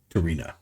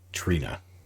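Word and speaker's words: T'Rina: So what we learned at the party earlier when Saru was dancing with Tarina. I think I said her name wrong the last time. Trina.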